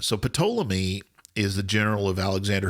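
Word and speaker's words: Ptolemy: but it I mean technically in Greek it is pomy and pic um so now I'm going to get all the letters of Correction but but you pronounce every every consonant so pamy is the general of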